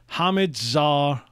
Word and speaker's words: Hamidzadeh: It's pronounced. He's written it out for me. Hamidzadeh. Pete Hamidzadeh.